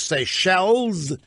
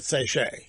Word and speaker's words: Seychelles: I've not been informed the correct pronunciation is Seychelles not sayshe Seychelles Indian out there